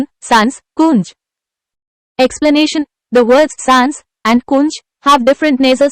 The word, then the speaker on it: सांस: The sound in sans is tilde n, n. 1. अनुस्वाराचा भिन्न उच्चार असलेली शब्दजोडी कोणा? Answer 2. Sans, kunj. Explanation. The words sans and kunj have different nasal sounds, Answer 10.